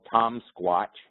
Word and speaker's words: Thom: tomsq uh and uh tom is the welsh spelling of tom is t-h-o-m uh which is how my first name is spelled so if you just type in tom with h o m the silent h uh welsh are known for their silent consonants um so there it is